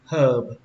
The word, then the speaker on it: herb: Rau thơm thì các bạn đọc là herb. Herb. Đây chữ hơ các bạn thấy không? Chữ hơ mà trong chữ cô ấy đấy. Herb thêm chữ bờ đó, herb.